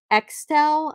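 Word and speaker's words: Axtell: Extel, I think is how you pronounce it. It's A-X-T-E-L-L.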